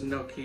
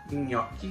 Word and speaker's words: gnocchi: make chicken gnocchi soup it's no key in my world but my italian friend sandy is very quick to tell me my pronunciation is wrong and i know i